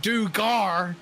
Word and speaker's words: Duggar: Alan Duggar now, you know, trying to set his sights out there. Excuse me. It's actually pronounced Dugar. Allan Dugar from Louisiana.